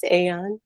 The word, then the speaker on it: Aeon: Yes, Aeon.